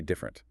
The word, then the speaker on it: different: Take the word different. It has three syllables written down. Different. But when we say it, we almost always say different. Different. Two syllables.